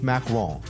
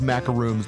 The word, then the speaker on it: macaron: Haute Sweets for that good local-made ice cream and fresh French macaron. It's not pronounced macaroons, those are coconut.